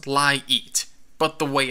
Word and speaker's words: LiEat: I think it's supposed to be pronounced LiEat, but the way it's spelled, it should be pronounced LiEat. The capital E clearly separates the words.